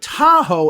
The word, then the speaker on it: Tahoe: Lake Tahoe. They'll say it like that when it's Lake Tahoe. Okay? Now, Lake Tahoe ends in an E, but the sound is still an O.